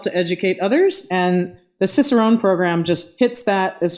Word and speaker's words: cicerone: does it mean to be a cicerone if i if i'm even saying that correctly no you did you did say it correctly okay um so for